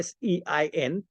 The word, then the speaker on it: Sein: एक है बीइंग या एग्जिस्टेंस, ये हेगल की लॉजिक में होती है, जो जर्मन में हम जाइन बोलते हैं, SEIN. S is pronounced as Z in German.